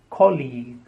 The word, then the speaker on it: colleague: he is my colleague the stress on the first syllable and the second sound is long II colleague the next word is